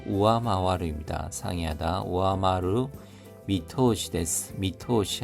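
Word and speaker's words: 上回る: 우에마와루가 아니라 우아마와루입니다.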